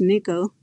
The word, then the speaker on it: NCCL: top of nvidia's nickel nccl pronounced nickel offers a topology aware